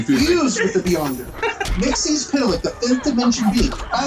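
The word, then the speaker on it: Mxyzptlk: By the way, that is the DC certified proper way to pronounce his name. Mixie's Pitalik. If anybody says Mixoplex, they're wrong. And yes, I know a couple animated shows have said Mixoplex, but the certified way from the guy who created the character is Mixie's Pitalik, which they also used in Smallville as the proper pronunciation.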